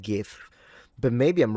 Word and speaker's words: GIF: I've always said, is it GIF? Miam Webster pronounced this with a hard G. That's what I was going to say. I've always said GIF, but maybe I'm wrong